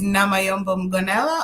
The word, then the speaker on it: Namayombo Mgonela: introduced yourself to us then with your proper pronunciation okay so good night everyone my name is namay ganella and I am the owner and creative director